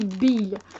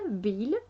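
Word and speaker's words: bael: Et ça s'appelle du bil. Du bil, ça s'écrit B-A-E-L, bil.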